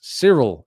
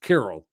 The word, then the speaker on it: Kirill: Everyone makes Cyril out of it. I always assumed it was Kirill, but you can tell me if I'm wrong.